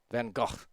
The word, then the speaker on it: Van Gogh: a uh went into like a van gogh painting or something or van gogh if you want to use a dutch pronunciation but i don't know